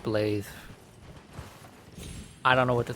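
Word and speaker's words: Blaidd: His name is spelled blade and name is pronounced blathe.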